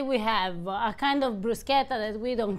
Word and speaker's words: bruschetta: It's not pronounced bruschetta, it's pronounced bruschetta.